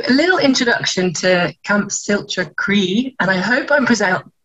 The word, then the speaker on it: Siolta Chroi: So a little introduction to Camp Siolta Chroi, and I hope I'm pronouncing that correctly. I'm still not saying it right. Oh, Siolta Chroi. Siolta Chroi.